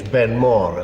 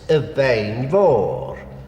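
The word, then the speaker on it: Beinn Mhòr: Well, of course, in English, Ben Mor is a perfectly good pronunciation. In Gaelic, it is Evein Mor, the big mountain.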